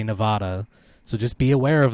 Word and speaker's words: Nevada: spanish word and that correct pronunciation of the spanish word would be nevada i understand that but it's nevada but why why because